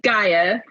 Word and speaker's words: Gaea: you say your instagram handle how do you pronounce it is gaia okay perfect definitely would have butchered that so